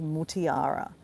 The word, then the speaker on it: Mutiara: My real name is Mutiara. Now, it's spelled M U T Mut I A R A.